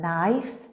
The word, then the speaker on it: knife: knife fork spoon plate remember with the word knife it's a silent K like when we know